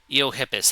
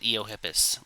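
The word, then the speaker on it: Eohippus: Eiohippus. That's how you pronounce it. That's it. Eiohippus.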